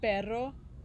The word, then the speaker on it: perro: But remember when we were reading the book, we tried to say the word perro. Can you guys say that? Perro. Yeah, you guys have gotten better at it, right? Practice. But it's hard, right? It's hard to roll your R.